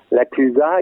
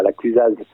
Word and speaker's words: La Clusaz: La Clusa, il y a un Z, mais on ne le prononce pas non plus. On dit la Clusa, pas la Clusaz.